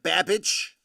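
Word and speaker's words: Babbage: that is printing Mr babage rhymes with cabbage synonymous with cheddar Essex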